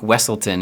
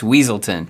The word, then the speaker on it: Weaselton: he corrects the pronunciation cuz they call him Duke wesselton he says no it's weaselton that's a direct inverse